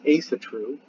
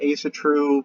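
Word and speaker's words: Ásatrú: even Ria's ASA true a lot of people say Asatru and I've said Asatru many times but the Aesir ASA true probably a better pronunciation I'd have to ask how they pronounce it in Iceland today but I'm assuming it's ASA true and you know ASA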